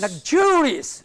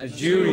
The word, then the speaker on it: luxurious: Then there are words which are ending in O-U-S. Ending in? O-U-S. Syllable that precedes. Curious. This is to be made prominent. Notorious. Notorious. Rebellious. Rebellious. Luxurious. Luxurious.